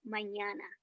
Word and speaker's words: mañana: Just round your A's just a bit. That's mañana. But very good, Rounded very good, A. very close to the correct pronunciation. Mañana. Instead of saying A, it's Mañana.